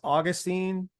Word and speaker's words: Augustine: pronounce it correctly sure my first name is Augustine like St Augustine and my last name